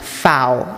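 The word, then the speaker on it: FAO: representing the food and agriculture organization of the United Nations or as we call it foul whether it's fail foul I know that is what we normally pronounce it please help me to welcome Miss Mr.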